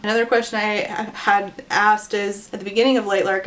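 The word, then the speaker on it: Isla: by the way her name in fact is pronounced Isa according to the audio book so Isa Crown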